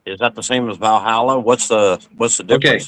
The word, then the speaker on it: Valhall: Uh the the actual the first the original name is Valh Hall, like Valhall, right? Hull. Uh it's it's spelled V A L H O L.